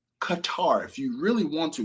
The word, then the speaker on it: Qatar: So now this doesn't include the fact that I've been on the A380, wonderful experience, A350 long range from Miami to Doha, Qatar.